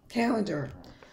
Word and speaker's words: calendar: multiple syllable words examples calendar at the end of the word a is usually pronounced e dollar caterpillar a caterpillar